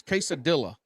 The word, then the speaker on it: quesadilla: So you pronounce the L in quesadilla. Quesadilla. It's quesadilla.